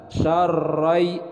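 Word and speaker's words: شَرًّا: Syarrai, ra-nya bertasydid, jadi harus ada penekanan.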